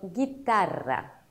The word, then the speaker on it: guitarra: La letra U no se pronuncia entre la G y la vocal correspondiente. Por ejemplo, guitarra, guitarra.